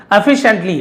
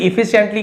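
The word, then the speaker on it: efficiently: एफिशिएंटली, भले ही इफिशिएंटली के लोग पढ़ देते, उच्चारण एफिशिएंटली, एफिशिएंटली का मतलब कुशलता पूर्वक, है ना, बहुत ही दक्षता पूर्वक उसे हम एफिशिएंटली कहा जाता है।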